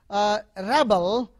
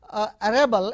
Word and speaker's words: rebel: And you take a word rebel, rebel, a person who rebels. If you say rebel, rebelling against somebody, so protesting.